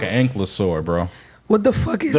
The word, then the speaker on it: Ankylosaurus: Do y'all know how to spell that Yeah, shit? he said Ranklosaur? Ankylosaur. Ankylosaurus, bro.